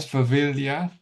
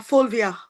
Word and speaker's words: Fulvia: Hope I said right, Favilia. If I said wrong, sorry, I didn't mean to say it wrong. No, You can- Fulvia. Fulvia. Yes.